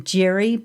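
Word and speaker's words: Jiří: So most of you will pronounce his name Jiri, but it's really Jiri. And you need to learn to roll your tongue, and then you can call him what he really is.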